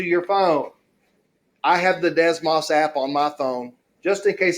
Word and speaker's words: Desmos: is I would like to introduce everybody to Desmos. Have y'all heard of Desmos? Okay, it is spelled D-E-S-M-O-S.